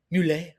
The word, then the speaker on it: Mule: Today we have the incomparable Christina Mule. Accent on the E, Hi.